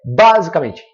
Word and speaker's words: basicamente: Porque aí fica parecendo que é basicamente. Basicamente. Porque se o acento está aqui no A, é porque o A é mais forte. E não faz sentido. Não é assim que a gente pronuncia a palavra.